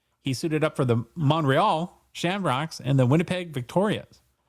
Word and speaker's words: Montreal: He was born in Montreal, Quebec, because there's a silent T, and passed away in San Francisco, California.